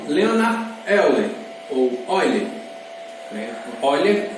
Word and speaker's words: Euler: Euler, no caso a pronúncia é alemã, e aí essa relação